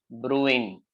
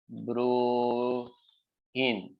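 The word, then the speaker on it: Bruijn: cycle or Cycles okay this is pronounced as Brewing okay J is silent okay or maybe something like bro in you know like a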